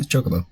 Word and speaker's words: Chocobo: or uh what it how do you say chocoo is it Chocobo yeah Chocobo yeah didn't I get